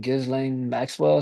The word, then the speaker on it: Ghislaine Maxwell: Ghislaine Maxwell is how you pronounce it, Ghislaine Maxwell.